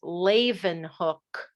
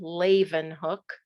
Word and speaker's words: Leeuwenhoek: has a terrible name his name is laven hook that's how you pronounce that last name laven hook laven hook was also